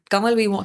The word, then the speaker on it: Kanwal: And they said that Kanwal, Kanwal, मेरा नाम है KANWAL, because N is silent, Kanwal है।